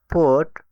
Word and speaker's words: put: ছোট্ট একটা টিক মনে রাখার জন্য বাট, কাট, সান। এই ওয়ার্ডগুলোতে ইউ এর উচ্চারণ আ অথবা অ টাইপের হবে। পোট বুক ফুল এই ওয়ার্ডগুলোতে ইউ এর উচ্চারণ ও টাইপের মত হবে।